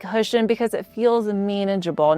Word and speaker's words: Hoschton: It's Hoschton, not Hoschton. Think hush, like push. Hoschton.